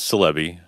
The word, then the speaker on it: Silebi: my last name is celebi and there's no other meaning for salami other than it rhymes with my last name although it's usually a